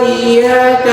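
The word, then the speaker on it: إِيَّاكَ: Iyyaka na'budu wa iyyaka nasta'in. Itu artinya cahaya matahari kami menyembah dan cahaya matahari kami meminta pertolongan. Kalau ibu sepelekan bacanya. Di situ ada tasydid tekan. Iyyaka, hanya kepada Engkau ya Allah.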